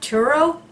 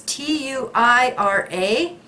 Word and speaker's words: Tuira: It is Alex, I don't know how to pronounce that, Turo. It's Tuira.